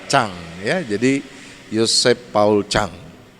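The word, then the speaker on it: Zhang: saudara Yosep Paul Jang tapi di dalam pelafalan Mandarin sang itu dibaca Cang ya jadi Yusuf Paul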